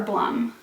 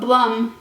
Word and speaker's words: Blum: poisoners handbook by deborah blum i mispronounced her name in my may TBR but Blum is correct not Blum this book is a